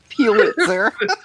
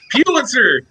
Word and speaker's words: Pulitzer: Pulitzer. Pulitzer! God damn it. Putzler.